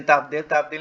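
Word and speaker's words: تفضيل: Isim tafdil ni ejaan dia tafadot yalam ya tulisnya. Tafdil. Tafadot yalam. Bunyinya tafdil.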